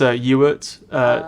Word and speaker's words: Ewart: No, it's Ewart. Sounds like Stuart, but take off the ST at the beginning.